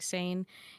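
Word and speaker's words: Seine: else cares Fiera says the sane pronounced like sane is indeed a Riverway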